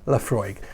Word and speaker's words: Laphroaig: you l-a-f-r-o-y-g laphroaig la frog frog so there you go laphroaig again it's garlic like